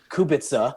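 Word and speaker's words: Kubica: So, so she might have said something like her his name should be Kubitza.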